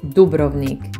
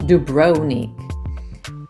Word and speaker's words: Dubrovnik: number six is Dubrovnik you should pronounce it Dubrovnik not dubroonic every time I travel